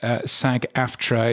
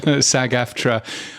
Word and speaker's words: SAG-AFTRA: car is uh is Sag aftra or sagafra as I believe uh I've heard it pronounced but anyway um that